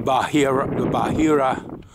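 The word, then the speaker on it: Bahariya: The Bahira Oasis, which is among several oases here in this part of Egypt.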